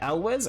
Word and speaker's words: Elwes: I have no idea how to pronounce that. Elwes? I have no idea who that is either. Also... No wait, yeah, Elwes?